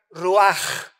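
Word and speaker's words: רוח: es la palabra hebrea ruach con ch al final que se pronuncia raj que se traduce espíritu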